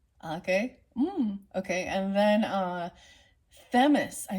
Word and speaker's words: Themis: okay and then uh themus is that how you pronounce it Themis th m i s is the uh Libra